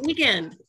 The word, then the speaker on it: The Weeknd: No, Weeknd, as in Friday to Sunday.